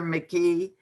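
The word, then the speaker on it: McGhee: us it's by uh heather mckee um which is spelled with a g um so that you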